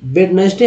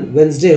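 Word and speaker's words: Wednesday: क्योंकि वेन अब भाई वेडनेसडे हम लोग सभी पूरा इंडिया के लोग गलत उच्चारण करते हैं, वेडनेसडे बोलते हैं, हो सकता है कहीं वेडनेसडे ही बोला जाता हो, लेकिन शुद्ध उच्चारण वेंसडे होता है।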